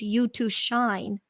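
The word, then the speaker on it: YU2Shine: And so in 2013, I actually started my company and I named it You to Shine to honor that moment because it's spelled YU number 2 shine, and it's a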